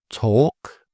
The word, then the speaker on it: talk: And so some examples of silent L: calm, talk, half, mentioned previous, could, would, could, should, folk, and yoke.